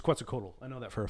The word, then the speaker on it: Quetzalcoatl: quetzalcoatl you look like i said it's it's quetzalcoatl i know that for a fact it's like